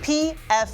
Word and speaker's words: Pfaadt: His name is Brandon Pfaadt. Yes, it is spelled P-F-A-A-D-T. That is Pfaadt. Like I fought with my boyfriend last night, and if I had one, I probably would have.